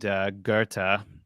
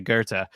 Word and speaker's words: Goethe: In Faust, by a guy named Goethe. That's how they pronounce it over there, but it looks like it's spelled Goth in English. But anyway, Goethe.